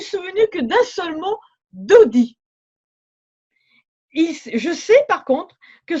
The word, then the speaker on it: Dodi: Alors je savais pas trop comment l'écrire, hein, comme ça se prononce, Dodi, et je rajoute Kabbale.